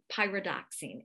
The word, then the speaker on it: pyridoxine: Pyridoxine is how it's pronounced.